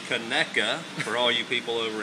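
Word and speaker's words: Conecuh: of the world famous keka sausage that is pronounced keka for all you people over in Jtown and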